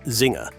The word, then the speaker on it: Czinger: TheQinger 21C, pronounced Zinger, isn't your average higherformance car.